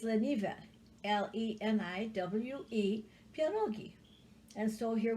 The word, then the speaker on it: Leniwe: Leniwe pierogi. And it's spelled like this. Leniwe. Leniwe. We have no V in the Polish language. If there's a V in it, then it's usually Czechoslovakian. So it's Leniwe.